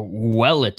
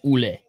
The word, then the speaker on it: Ouellet: Oh, Ouellet is how you pronounce it, but I'm sorry. I'm from Canada. I see that name. It's Ouellet.